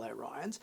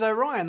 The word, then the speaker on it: Orion: episode with the male Orions. But back in animated series, they were blue. They wore really campy, strange, superhero-esque like uniforms, and they didn't pronounce their race as Orion. They pronounced it as Orion, which obviously was a